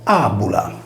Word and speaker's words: Fàbula: Nel nostro caso, infatti, Fàbula è pronunciato ‘Àbula.